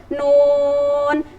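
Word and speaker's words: ن: Contohnya yaitu permulaan surat yang awalnya itu nun. Nunnya itu dibaca 6 harokat atau 6 ketukan.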